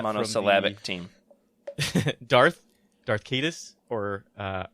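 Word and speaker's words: Caedus: Darth Darth Cadis or uh how do you say it, Jared? Kitus.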